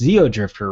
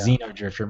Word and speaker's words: Xeodrifter: Oh, there's the Renegade Kid Metroidvania-like game that I always mispronounce the title. It's Xeodrifter, right? Yeah, that's right. I want to call it Xenodrift. That's what I always usually I say, Yeah. Xenodrifter.